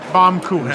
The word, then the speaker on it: Baumkuchen: Okay, Baumkuchen. Japanese, She's yeah. correcting my pronunciation.